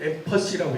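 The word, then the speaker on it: empathy: 자, 그 다음에 엠파시가 들어가죠. 감정이입, 엠파시. 영국 발음으로는 엠퍼시라고 얘기하죠. 감정이입이 들어갑니다.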